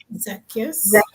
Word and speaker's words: Zacchaeus: Zacchaeus. Yes. How am I not being able to pronounce this?